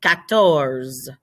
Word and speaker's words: quatorze: So quatre, you have quatre or quatre, and then you have quatorze.